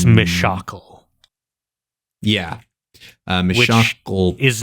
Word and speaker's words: Mishakal: Uh, but it is in fact Mishakle. Uh, so or it could be Mishakle or Meshakle. Either way, the the shock is the uh is the is the the emphasized syllable there.